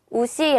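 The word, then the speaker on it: 牛: 라고 읽어주고 요 그리고 흔 독은 우시 라고 해서 우시 자체가 소 라는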